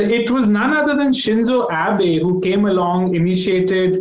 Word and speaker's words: Shinzo: in the episode we wanted to talk about shinoza abe i hope i got that pronunciation correct shinzo shinzo and so his tragic death of course